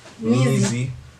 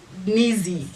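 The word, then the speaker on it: Nzy: Nizi. It was N-Z-Y. Yeah, that's how it was spelled. Nizi. Yeah. But there's no I. Yeah, but that was the pronunciation.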